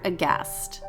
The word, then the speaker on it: aghast: n and on instagram at cast underscore aghast remember there's a silent h